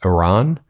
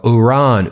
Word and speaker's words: Iran: Then he informs the graduating class that he knows how to pronounce Iran. He said, "I used to be like Iran, Iran, and now I go U-ran, U-ran."